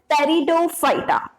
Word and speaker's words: Pteridophyta: And the third one is Pteridophyta. Pteridophyta. And here the P is silent. We call it as Pteridophyta.